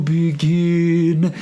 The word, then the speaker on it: begin: A life that I am aching to begin. If I put a little of I in there, then I'm able to emphasize the second syllable, begin versus begin. And then we have the proper stress of the word using those symbols.